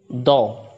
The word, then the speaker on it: though: Though. GH is silent here.